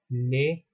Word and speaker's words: les: of course da and read as lay so you have the